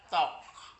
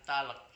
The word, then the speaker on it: talk: tidak perlu dibaca contohnya t a l k bacanya tok to bukan talek kalau talek kan itu